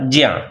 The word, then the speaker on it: ज्ञ: संस्कृत उच्चारण अब तक सुरक्षित है, पर हिंदी में अधिसंख्य लोग इसे ज्ञा बोलते हैं, जबकि यह बना है जा में या मिलाकर। जा धनिया बराबर ज्या। इस हिसाब से इसका उच्चारण जा और या को मिलाने पर जो होना चाहिए वह होगा, यानी ज्या जैसा।